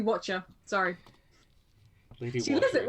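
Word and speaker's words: Wachter: Sorry, no, it's actually Lady Watcher.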